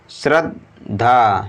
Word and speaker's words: श्रद्धा: अगला शब्द है श्रा आधा दा है और फिर धा में बड़े एक डंडा है, तो आधे दा को उच्चारण श्रा के साथ पढ़ेंगे श्रद्धा, श्रद्धा।